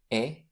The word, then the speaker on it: et: After the conjunction et, which means and, have a look, et, et une. We never pronounce the T at the end.